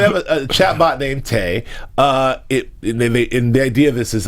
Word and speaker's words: Tay: to put out this chat bot yeah called tag but why you gotta say it like that why you gotta say it like that hey wow okay so they have a chat bot named Tay uh yeah this is like it it's a